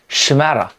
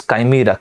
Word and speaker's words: chimera: is called chimera western people at times they pronounce it as shimara so but i prefer pronouncing it as chimera chimera is a wild offensive impractical idea wild fanciful